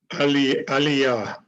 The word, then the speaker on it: Aliyah: Say, pronounce it for me again. Aliyah.